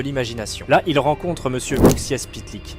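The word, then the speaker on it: Mxyzptlk: Là, il rencontre Monsieur Uxias Pitlick, un nom de fou, mais je vous assure que c'est comme ça que ça se prononce.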